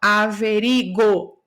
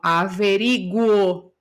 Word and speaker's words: averiguo: Esse G não terá o som de G. Okay? Você não fala averigo. Eu falo averiguo, porque tem o O depois. Então, o U é pronunciado.